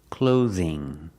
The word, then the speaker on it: clothing: Pronunciation, clothing. Use the long O like no and go. Use the TH with a voice, th, like this and that. Clothes, clothing, clothing.